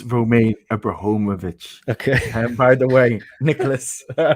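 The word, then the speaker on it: Roman Abramovich: to contend with as you're always correcting my pronunciation um it's romaine abrahomovic okay by the way nicholas but um sorry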